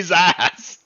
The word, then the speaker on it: Zass: Behold my mighty Zass. Be very careful you pronounce that Z.